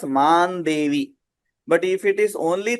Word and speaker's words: मां देवि: Now see here also we are seeing after mam that anuswara we have devi. So we are pronouncing it as man devi.